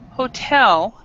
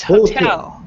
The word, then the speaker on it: hotel: And also this word right here, hotel, that is commonly mispronounced by a lot of people where they stress the first syllable, but in English we stress the second, so it's hotel.